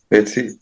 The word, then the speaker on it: petit: Petit. Petit. Petit. Petite. Petit. Petit. Petit. Petit. Okay. Very quickly, I'll explain something to you. In French, the last consonant is not always pronounced.